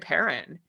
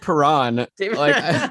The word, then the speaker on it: Perron: ryan o'reilly and david perrin are you are you laughing i'm laughing at these pronunciations and it's david perron what podcast is this